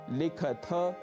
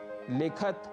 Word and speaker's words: लिखथ: कुछ भी नहीं होगा और पठथ, लिखथ, खादथ आदि के उच्चारण का भी हमें विशेष ध्यान रखना है। इन्हें पठथ, लिखत, खादत आदि हमें नहीं कहना है।